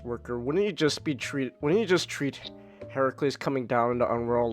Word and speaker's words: Heracles: Heracles is with Greek with a K, and it's pronounced Heracles because he was named after Hera, and that was the Greek pronunciations, and then the Romans screwed it up.